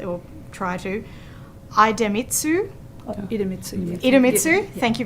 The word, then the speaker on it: Idemitsu: plant in Townsville the company names so I pronounce them correctly or try to idemitsu IDU ID mitsu thank you very much and